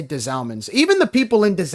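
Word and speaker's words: Des Allemands: So it's des Almonds? That's how you pronounce.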